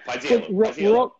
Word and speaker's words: Paisiello: Paisiello, whatever it is, I can't remember exactly how you pronounce it. Paisiello.